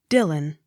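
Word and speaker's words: Dillwyn: the x not sounded d i l l w y n dylan the w y takes the sound of u the accent on first syllable d u c h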